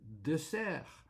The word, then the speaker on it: dessert: It's dessert.